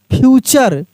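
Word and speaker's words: future: नेचर एन ए टी यू आर ई नेचर एफ यू टी यू आर ई फ्यूचर क्या पढ़ेंगे फ्यूचर पी आई सी टी यू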